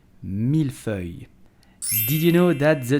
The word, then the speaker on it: mille-feuille: buttery a little crispy i'm talking about the milfoy so how do you pronounce it correctly with the real french accent so you will simply say mil fue milfoy so pronounce it carefully the second word is